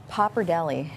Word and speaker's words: pappardelle: and then highlight the traditional tripe and oxtail pappardelle. This is our possibly signature dish. It's the only thing that never leaves the menu. Pappardelle.